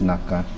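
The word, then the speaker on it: 中: It can mean in Japanese that's pronounced naka naka it can be shortcut for nakagawa or something.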